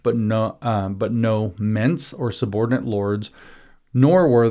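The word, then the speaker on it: mesne: sub lease is the mints in this case. Mesny actually me not mints.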